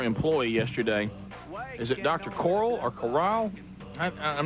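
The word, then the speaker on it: Cyle: yesterday is it Dr Coral or Coral I'm not sure doc how do you say your last name c y l e coil it's like boil or doy right and you um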